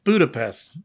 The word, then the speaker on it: Budapest: And we get that fun little exchange about the Pest, yes, the correct pronunciation of Budapest. Budapest. It's Budapest. Budapest.